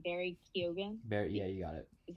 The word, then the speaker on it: Keoghan: Obviously, the people in this movie, you have Barry, I can't say his last name, Barry Keoghan. Yeah, you got it. Is that how you pronounce it?